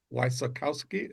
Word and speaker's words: Wysokowski: Wissakowski. Is that That's it. Wakowski. Perfect. So, let's start with you kind of telling me the the Wissakowski story and what we're hopefully going to work on today.